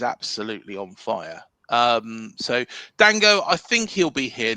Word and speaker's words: Dango: Um, I used Do you know what people were calling him Dongo for a while and I called him Dongo, but you know, um, yeah, we call him Dango.